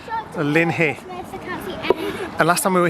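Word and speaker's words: Loch Linnhe: it is on the shores of lock Lynn here and I checked that that was the correct pronunciation on Google before I said it Lin hey and last time we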